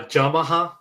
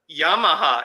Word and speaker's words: Yamaha: a pronunciation thing but it sound like you said jamaha yeah that's how you say how we supposed to yeah yeah yeah yeah well how do you say Yamaha Yamaha yeah it's yah not